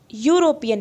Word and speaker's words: European: Now see, letter is E, but sound European, U.